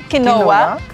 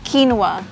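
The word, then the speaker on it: quinoa: Paano mo to i-pronounce? Kino kinoa queen? Oo. No actually it's kinwa.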